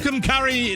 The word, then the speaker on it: Tucumcari: Tucumcari, New Mexico. Did I say it right? I believe so. Say it with meaning, though, and then you'll have it. Tucumcari, New Mexico.